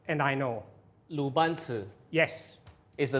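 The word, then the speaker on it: 鲁班尺: It's the Lai Ban Chi. The pronunciation is wrong, and I know. 鲁班尺 Yes, is a 鲁班尺, yeah.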